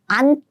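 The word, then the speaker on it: 않다: And next, 안타. Please use the first consonant too.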